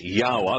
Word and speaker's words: Yahowah: In other words, Yahowah, Yod-Heh-Wah, Hey, is always Yahowah. That's how it's pronounced no matter what language you're using.